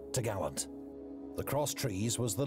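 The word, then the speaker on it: topgallant: trees which secured the top Gallant Mast pronounced to Gallant the cross trees was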